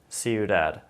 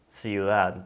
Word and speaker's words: ciudad: It's definitely a softer sound than it is in English.